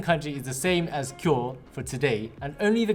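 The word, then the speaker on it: 今日: so for today it's kyo kyo but it's pronounced cure i think i've seen this kanji before isn't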